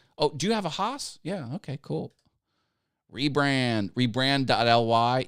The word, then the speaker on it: Haas: a five-axis cnc machine called a haas that's how you say it oh do you have a haas yeah okay cool rebrand